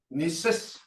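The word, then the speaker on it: nisíssa: There's an A at the end of that, but you don't actually say that. It's kind of like a, it's spelled that way, but this is how you say it.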